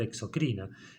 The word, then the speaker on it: exocrina: glucagón principalmente aclaro algo nosotros pronunciamos mal las palabras porque se escriben sin tilde es decir que esta palabra debería sonar exocrina y esta palabra endocrina porque no lleva acento escrito ninguna de las dos eh Bueno espero que